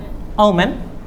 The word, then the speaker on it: omen: good luck is known as o m n Omen okay this pronunciation is Omen but it means Omen means